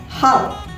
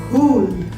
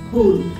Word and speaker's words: Hul: Well, if you are predominantly an English speaker, most likely you're going to pronounce this as Hal. But again, if you look at the Hindi way of writing it or the Santhali way of writing it, if you know that language, you will realize that the U over here is to give a long sound. Ooh. So by that stretch of knowledge, this word is going to be pronounced as Hool.